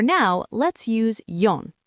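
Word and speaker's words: よん: For has two pronunciations, she or yon. In most situations, you'll use yon because she sounds like the word for death in Japanese, so people avoid it, but you'll hear both. For now, let's use yon.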